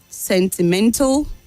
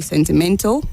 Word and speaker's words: sentimental: Sentimental, gradual, critical. The AL at the end takes a weak sound, so you say sentimental, gradual, critical, not sentimental, gradual, and critical.